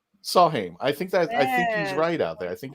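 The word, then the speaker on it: Samhain: saw when it's oh he's pronouncing that the m is a w in celtic so sawheim saw him i think that i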